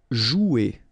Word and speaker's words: jouer: Okay, remember, you combine this O and U, you get the sound OU. So joue. Okay, J is pronounced like J. Joue. And then ER here, you combine them at the end. Et.